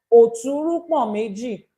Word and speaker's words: Oturupon Meji: Oturupon Meji. Oturupon Meji is pronounced O, like OH, like when you say O. Then two. Ru is like Ru as in Ruth.